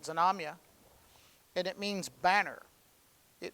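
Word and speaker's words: Znamya: in russian it's uh z-n-a-m-y-a zonamia i guess is how you pronounce it zanomya and it means banner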